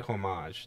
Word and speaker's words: homage: I think this new Godzilla anime on Netflix is a great homage to the old series. I think I'm saying it right. Homage. It's like French or something.